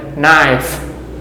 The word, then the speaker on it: knife: ซ อ ย จ ะ เ ป็ น knife knife chef chef life life safe safe leave